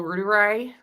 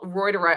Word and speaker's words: reuteri: reuteri. First of all, how do you pronounce? Think of the news service from the UK, Reuters.